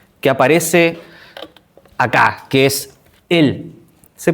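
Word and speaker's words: אֵל: El primer nombre, el primer nombre que aparece acá, que es él. Se pronuncia así, él.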